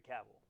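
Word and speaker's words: Cavill: So as Conor Mloud of Clan Mloud, we have one Henry Caval rhymes with travel.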